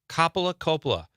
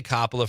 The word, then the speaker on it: Coppola: Thank you, Catherine, for I'm going to say Coppola from now on. I know that's the correct pronunciation, but for some reason I say Coppola.